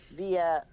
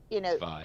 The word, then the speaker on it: Vi: you guys are accessible via social media, because Vi. people It's Vi. from It's pronounced Vi. It's not via, it's Vi.